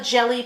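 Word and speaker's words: Gelli: really easy and fun is to have a jelly plate and that's spelled g e lli these are mono printing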